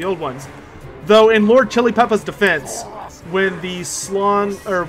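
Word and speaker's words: Xhilipeppa: is a slon called lord chili Peppa yep but it's spelled uh x h i l i p e p p a i think sack that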